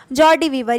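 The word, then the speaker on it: joie de vivre: Next है, ये देखिए इसका प्रोनाउंसिएशन ऊपर लिखा है जॉर्डी, JAW, जॉर्डी वीवर। ये आपने इंस्टाग्राम पे लोगों को देखा होगा बायो में लिखते हुए जॉर्डी वीवर।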